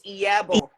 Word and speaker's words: Iyabo: The I is pronounced as E. E. So it's Iyabo.